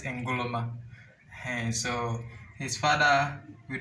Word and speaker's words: Nkrumah: We pronounce it Ngoloma.